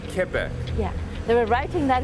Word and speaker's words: Quebec: Quebec. Oh, see, I've been saying it wrong. Quebec. Quebec.